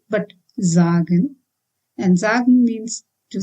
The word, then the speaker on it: sagen: means to be called if S is at the beginning of any word it needs to be pronounced as Z like in busy again for example zagen it's not sagen but zagen And zag means to say.